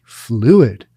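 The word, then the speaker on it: Phluid: brand the fluid project and fluid is spelled p-h-l-u-i-d fluid that's a weird word ah but it's a good word because now you'll remember it fluid and he spelled it weird ph as much as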